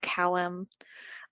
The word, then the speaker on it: CWM: a new streamlined acronym it's pronounced the same we call it column we like a lot